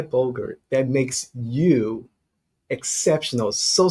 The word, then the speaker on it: Boger: you for saying bogur rhymes with yogurt um I grew up